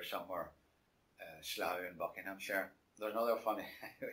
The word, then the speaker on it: Slough: and they said, I went through to 4212 Sluck. I said, Sluck, right. England, Sluck, yeah, right. How do you spell that? Oh, it's Slough. No, Slough.